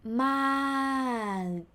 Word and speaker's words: มาก: sound so look so you end it with มาก but you don't pronounce the sound you swallow the ending sound มากมาก it might sound